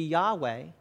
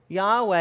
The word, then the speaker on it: Yahweh: as best we know, if you were to pronounce it, would be Yahweh, it has often been